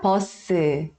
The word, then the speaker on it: 버스: E aí, todas as palavras que terminam em S no final, a gente vai acrescentar a vogal U, e aí fica posso, ao invés de falar bus. Você vai pronunciar como se tivesse duas sílabas, tá?